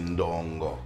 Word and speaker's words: Ndongo: Bon, comme c'est Konda, je pense que son nom se prononce mieux en Ekonda, c'est Ndongo.